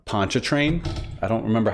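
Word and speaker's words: Pontchartrain: So, it's, by the way, it's pronounced um Poncha Train.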